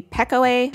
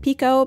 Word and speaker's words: Pekoe: is called pico now it looks like it could be pekoe but it's pico because apparently it's a word that is transliterated that means not exactly translated but like somebody heard it and they transliterated it into like what they thought it sounded like so some english person